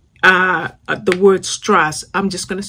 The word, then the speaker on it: Strasse: And it tells you that it's as like if the doctor tells you say when he's looking at your throat.